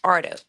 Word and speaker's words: Haro: Okay, so Jake and his name is Haro. Okay, but it's Mexican. So it's it's Ardo.